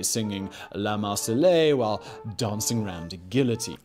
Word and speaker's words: La Marseillaise: than simply say singing la Marseille while dancing around to guilty I think it's La marseillaise is how it's pronounced but it would still